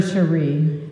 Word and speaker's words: Cherie: I knew it as soon as I said Sherry, I said it wrong. For Cherie and everyone who loves them.